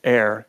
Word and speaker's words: Aether: She works with something called I want to say Aether, but it's Air. Blastia. Blastia comes from. She explains this all. Yeah, Blastia. Yeah, it's pronounced Air.